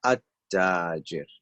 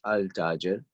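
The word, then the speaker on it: التاجر: So at-tajir, and not al-tajir, even though the lam would be written there, but we're going to say at-tajir, and at-tajir is merchant, the merchant.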